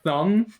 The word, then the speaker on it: thumb: i've been thinking about the silent b in the word thumb yeah he literally says oh hey what's up jackson oh you know just thinking about how the b and thumb is silent like meditating on that fact